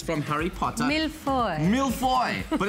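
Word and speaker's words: mille-feuille: Millefoy. Millefoy, but it's spelled like millefoy.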